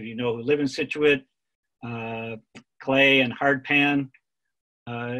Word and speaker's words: Scituate: and at this time english authors and poets uh generally put a silent c after essence and so